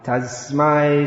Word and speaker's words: tasmai: Tasmai Shri Gurave Namaha. Tasmai has to be pronounced clearly. A native English speaker would automatically convert that into an S, that S into a Z, Tasmai, but that is incorrect.